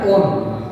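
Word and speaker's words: -one: Then suffix ONE, spelling में से इसकी वन की है पर अपने को प्रोनाउंस क्या करना है ऑन, ये याद रखना है।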